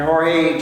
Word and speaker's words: Jorge: I hate when people call him George Masvidal. That drives me nuts. No, it's Jorge, man.